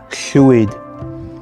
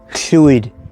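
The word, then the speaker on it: llwyd: aware of this sweet it's where the name in english lloyd comes from it's a welsh borrowing that was well butchered but chewy one also that i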